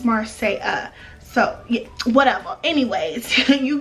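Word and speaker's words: Marsai: It has apostrophe at the end over the I, and it's, the A is silent, I guess, because it's spelled M-A-R-S-A-I, but it's Marseille.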